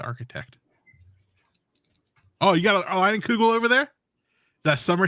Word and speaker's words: Leinenkugel: their intern was trying to pronounce Leinenkugel, and he called it Linnenkegel, and I was laughing for a good 30 minutes because it reminded me of the architect. Oh, you got a Leinenkugel over there?